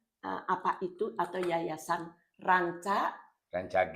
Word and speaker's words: Rancage: Nah, rancage itu kalau yang belum tahu ee kadang membacanya saja jadi rench gitu. Oh, itu kalau orang barat ya. Renche. Heeh. Jangankan orang jangan orang Barat. Orang Jakarta aja bilangnya rencage. Rancage. Rancage.